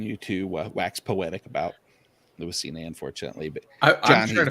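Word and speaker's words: Lewis Cine: I was like, oh shit, I hate when I pronounce guys' names. I've seen him enough at Georgia. It's Louis Cine, trust me.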